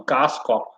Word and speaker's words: kaaskop: But see, I'm pronouncing it normally, kaaskop, kaaskoppen, cheeseheads. They don't pronounce it like that.